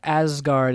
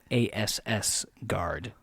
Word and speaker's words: Asgard: was pronouncing it ASS Guard. And they got in my ear and they're like, that's not what that is.